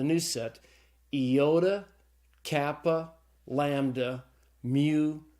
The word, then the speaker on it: mu: Mu. Mu is the M sound in Greek, so it's pronounced like the M in mother.